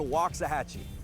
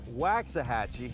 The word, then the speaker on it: Waxahachie: about 30 miles from downtown Dallas welcome to Loxahatchee not wax a hacci the obvious way to pronounce it Waxahachie but walk doesn't mean well